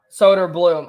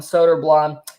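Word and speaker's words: Söderblom: announcers pronounce it every I always thought it was soda bloom but uh they actually have been calling them soda blonde he was called up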